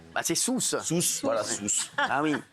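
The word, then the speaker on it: Sousse: quel boulet je sais pas comment ça se prononce bah c'est sousce sousce voilà sousce ah oui au on a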